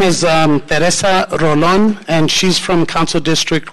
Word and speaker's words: Rolón: Mi nombre es Teresa Rolón y vengo representando al Distrito 1 para que